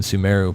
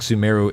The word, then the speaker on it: Sumeru: rolls off my Midwest English tongue easier than sumero but I feel like sumero is the right pronunciation every so often comes in yagarbaha day